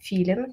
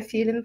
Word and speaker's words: Филин: Меня зовут Филин, как птичка Филин. Почему-то на последних конференциях начали меня как-то по-другому представлять, поэтому я решила сразу давать ассоциативный ряд, чтобы все запоминали, что это птичка, и не ставили ударение никуда дальше.